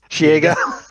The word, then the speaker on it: Shego: How did she pronounce Shego? Shego. Shego. Oh, that that's the actual pronunciation, isn't that? Isn't that accurate?